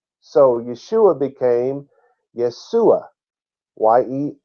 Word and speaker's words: Yeshua: of the Lord his name has always been Yeshua which means he is salvation when translators attempted